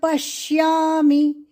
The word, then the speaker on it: पश्यामि: निमित्तानि च पश्यामि पश्यामि प पर आघात पश्यामि पश्यामि पश्यामि नहीं पश्यामि ये श को श हो जाएगा इसलिए ये गलत उच्चारण. पश्यामि पश्यामि बोलना नहीं. पश्या आधा श अधिक या पश्या.